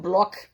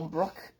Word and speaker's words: Brock: I was like, is it Block or Brock? You mean you couldn't even pronounce it?